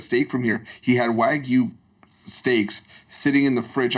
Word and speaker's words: Wagyu: Have you ever had that Japanese beef, the Wayubu, or however you Wagyu? Wagyu. Wagyu, yeah. I went. Don't pronounce it wrong if you're Canadians.